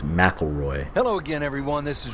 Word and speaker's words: McIlroy: Rory McIlroy PGA Tour I'm pronouncing his name wrong it's McElroy hello again everyone this